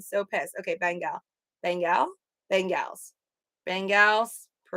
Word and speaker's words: Bengals: That's like bangles. So it's not Bengals, it's bangles. It sounds like the bangles that I wear. Bengals.